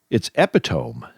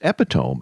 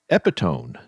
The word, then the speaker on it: epitome: I've been mispronouncing this word all the time because I said, wow, it's epitome. It's epitome. And I've been saying epitone this whole time. Oh, you put an N in there instead of an M.